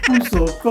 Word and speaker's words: puso ko: Puso ko.